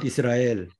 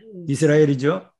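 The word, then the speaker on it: ישראל: 이스 아무 표기가 없어요. 그래서 이스 없어요. 그다음에 르. 아장모음이죠. 네. 그다음에 요 알레프죠. 이렇게 표기한다고 그랬습니다. 네. 제레죠. 에장모음. 네. 예. 그다음에 라메. 그래서 라메. 이스라엘. 이스라엘. 이스라엘이죠.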